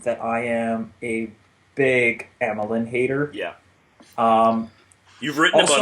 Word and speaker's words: Emelin: Also, I feel like we need to clarify, like, I always go with Emelin, but the broadcast last night was calling him Yemelin. Yeah, I think the Russian pronunciation is Yemelin.